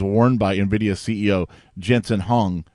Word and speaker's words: Huang: Interesting side note, a leather jacket that was worn by Nvidia CEO Jensen Huang or Wong is how you pronounce the last name.